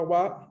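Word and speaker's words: は: Es la partícula wa, la sílaba ha en sí. ¿Qué sucede? Wa, de kore wa o Gustavo-san wa, nantoka nantoka, se pronuncia justamente wa cuando esta sílaba está en función partícula.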